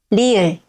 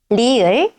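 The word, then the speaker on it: 리을: At the beginning of a syllable, it sounds somewhere between R and L. ri-eul can sound a little like R or L, but it is not exactly the same as either one.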